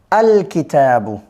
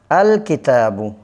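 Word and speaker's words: الكتابُ: আল কিতাবু। আল কিতাবু। এই লামটা কি হবে? আলিফ লাম এটা আলাদাভাবে উচ্চারিত হবে। আল কিতাবু হবে। কেমন? কিতাবুনের সাথে আলিফ লাম যোগ করলে আল কিতাবু হবে।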